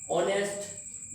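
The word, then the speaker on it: honest: जुबान पे नहीं लाते जैसे कि ऑनेस्ट यहां लिखा तो है means H ओ एन बट बट यहां एच साइलेंट है यहां मींस हम बोलेंगे ऑनेस्ट यहां लिखा हुआ है शुड।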